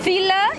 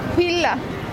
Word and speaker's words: Fila: Sí, pero Fila cambia, Fila. Porque no hay pronunciación con la F.